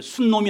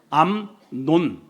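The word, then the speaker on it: 암논: 여러분이 발음을 잘해야 돼요. 예. 순놈이 아니고 암론. 순놈. 그런 그게 아니고 암론 음이라는에 다윗의 첫째 아들 왕권을 이어받을 서열 1위이 친구가 그러니깐이 가문의 한마디로 예 대표죠.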